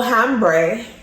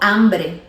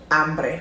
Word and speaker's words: hambre: So instead of saying tengo hambre, say Tengo hambre. hambre, because the H in Spanish is not pronounced.